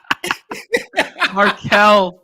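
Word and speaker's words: Markelle: I love the John quota of getting a name wrong every show. Who did I say? What did I say? I said Marquez Fultz, right? Didn't I? You did. Oh, fuck. Markel Fultz.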